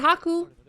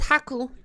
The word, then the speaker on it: Haku: well Haku play the next as well and Haku it's it's pronounced Haku as like a eight and n japanes pronounced